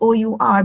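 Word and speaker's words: hour: So I noticed many of them are pronouncing the silent uh the silent consonant. For example, h o u r become how instead of our.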